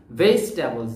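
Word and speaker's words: vegetables: খেয়াল করে তোমরা ভেজিটেবলস অনেকেই ভেজি বলে আমরা ভেজি বলবো না এটাকে বলবো হচ্ছে কি ভেজিটেবলস ভেজিটেবলস ভেজিটেবলস ভেজিটেবলস অর্থ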